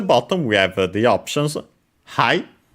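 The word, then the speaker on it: はい: And at the bottom we have the options hi which means yes is the uh most common the fundamental word for yes in Japanese accented on the first syllable.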